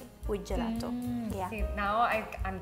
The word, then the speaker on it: gelato: yeah gelato okay gelato why do you say do instead of two i think it just sounds more natural in english for lack of a better way of saying this i feel like